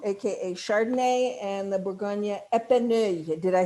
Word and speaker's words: Epineuil: The Bourgogne Tonnerre is the Blanc, AKA Chardonnay, and the Bourgogne Epineuil. Did I say it right? Is Pinot Noir. Epineuil. No, thank you. Epineuil. Epineuil, yeah, is good.